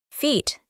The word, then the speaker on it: feet: Feet. Feet. Cuando nos encontramos con una A y una W juntas, pronunciamos O.